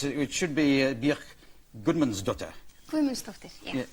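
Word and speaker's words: Guðmundsdóttir: Gudmundsdóttir, yeah. Gudmundsdóttir.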